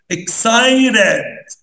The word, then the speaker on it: excited: دي الفاولز الحروف المتحركة، لو لقيت قبل التي فاول وبعد التي فاول بنطقها شبه التي او الار شويه. بص انا هقول ازاي، excited excited.